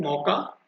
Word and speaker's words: Mocha: अब जिसका वर्ड मैंने यहाँ पे लिखा है MOCHA, मौका, इसका प्रोनाउंसिएशन ऐसे कुछ होगा, कुछ अलग तरीके से भी कोई बोल सकते हैं। ठीक है, लेकिन हम लोग मौका से इसको बोलेंगे।